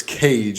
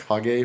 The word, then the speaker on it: Kage: I guess it's its cage it's always spelled KAG I have 11 legend of cage but it's pronounced hog a from oh yeah I've